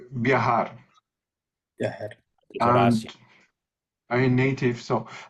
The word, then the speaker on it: viajar: say viajar. Viajar. Horacio. I'm native, so viajar. In Spain, they will pronounce hard, more strong. But in Latin American, we say viajar is softer. Softer.